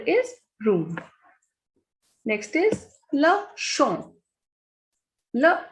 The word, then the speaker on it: champ: Next is le champ. Le champ is field. P is the last consonant, so it is muted here. We will not pronounce it.